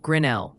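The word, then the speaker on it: Grinnell: Grenell is pronounced Grenell with the emphasis on that second syllable, L.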